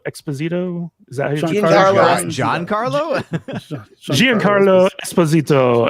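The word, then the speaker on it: Giancarlo Esposito: is that John Carlo Gian Carlo Esposito you almost have to have an accent to say his name it's like J Carlo Esposito yes his character was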